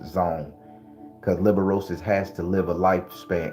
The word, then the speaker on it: liberosis: And this ancestor energy that I'm talking about is called Liberosis. You could like spell it like you're spelling Libra, but with a Libra, but with don't change the R and the E. So liberosis. So now, if you don't